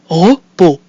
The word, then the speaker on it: repos: So we have our mute I that comes at the end of our syllable re, and we have our O followed by a silent consonant, which is pronounced O, that gives us repos.